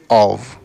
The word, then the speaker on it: of: ठीक है, तो सबसे पहले तो प्रोनाउंसिएशन देखिए इसका, ओ एफ, इसको हम पढ़ते हैं या फिर बोलते हैं ऑफ। ठीक है, यहाँ पे वी का साउंड है, एफ का साउंड नहीं है, वी का साउंड है, ऑफ।